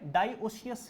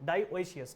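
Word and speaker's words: dioecious: डाई डाई ओए सियस मैं जैसे बोलता हूं वैसे ही लिखता हूं कभी स्पेलिंग गलत नहीं होती फिर डाई डाई ओशियस वैसे लोग बोलते हैं डास कैसे बोलते हैं डास स्पेलिंग गलत हो जाएगी ऐसे डा ओशियस ठीक है डायसिस का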